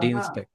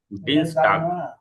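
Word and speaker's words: Dienstag: এটা উচ্চারণটা ঠিক আছে কিনা ডিনস ট্যাগ ডিনস টাক ও টাক টাক দেখছেন টাক ট্যাগ বলে ফেলছি বড় একটা কারেকশন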